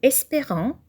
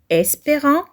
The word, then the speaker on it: espérant: assurer uned de qualité le mot espérant la lettre E produit le son et espérant même si elle ne porte pas l'accent grave parce que la lettre